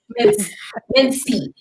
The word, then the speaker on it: Mincy: Mincy like mince meat. Like mince meat. Mincy.